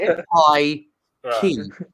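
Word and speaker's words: pikey: correctly it's p like P key like a pie then a key not like your what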